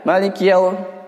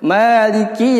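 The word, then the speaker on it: مَالِكِ: Di sini juga kadang banyak orang yang keliru sehingga kasrohnya tidak dilapaskan, jadinya kayak sukun ya. Maliki karena terlalu cepat membacanya. Yang seharusnya membacanya itu Maliki Yaumiddin ya, dijelaskan huruf kaf yang kasroh.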